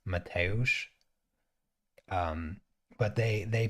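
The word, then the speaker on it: Mateusz: and all the announcers mateosh is just the polish version of the name matthew and it's mateosh um but they they pronounce it metals and then his last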